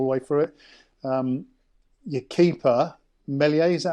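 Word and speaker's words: Meslier: Your keeper, Melier, is that how you pronounce it?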